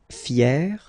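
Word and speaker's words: fière: Fier, fier. So you write them differently, but then phonetically it's exactly the same.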